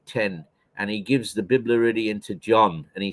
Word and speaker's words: Biblaridion: Spell that word, that Biblaridian again. Biblaridian. It's B-I-B, Bib, La, L-A-R, La, Id, I-D-I-O-N, Biblaridion.